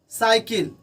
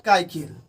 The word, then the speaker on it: cycle: CYCLE साइकिल, नॉट काइकिल।